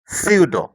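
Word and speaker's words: pseudo: তুমি যদি লক্ষ্য করো, এখানে প্রত্যেকটা শব্দের প্রথমে পি থাকলেও পরে এন, কোনো কোনো শব্দে এস থাকার কারণে পি এর উচ্চারণ কিন্তু হয়নি, অর্থাৎ পি এর উচ্চারণ সাইলেন্ট রয়েছে। তো তোমরা যখন ইংরেজি পড়বে তখন এই পি এর পরে যখন এন অথবা এস দেখবে তখন তোমরা এই পি এর উচ্চারণ করবে না।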